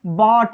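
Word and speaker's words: bought: और देखेंगे बॉट, इसमें भी GH साइलेंट है।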